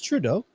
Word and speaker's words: Trudeau: Trudeau. That's Trudeau. I see DOW as in Dow. All it's missing is the N word, down. Okay, I like that one. That one's better. Dough. It's Trudeau.